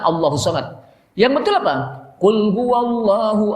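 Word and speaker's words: ٱللَّهُ ٱلصَّمَدُ: Maka dibacanya tidak qul huwallahu ahadun lillahus somad. Itu salah besar. Karena kita pernah dengar juga yang begitu jadi imam lagi. Qul huwallahu ahadun lillahus somad. Padahal Allahus somad.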